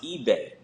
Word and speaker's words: Ibe: I'm of Nigerian descent, so it's pronounced eBay, which is short for eBay zim, which means I learn